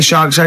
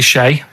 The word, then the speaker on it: Che: Che is like shake. and his surname is like guitar.